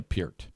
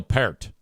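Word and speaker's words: Peart: should have picked Neil Pier from Rush. Joe Mama picked Neil Pier, but she said his name wrong. She said Neil Per.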